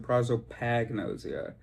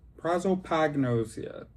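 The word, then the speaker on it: prosopagnosia: Oh, I've always pronounced it prozzoagnosia, but I see it. It's an O. Prozopagnos Prozopagnosia.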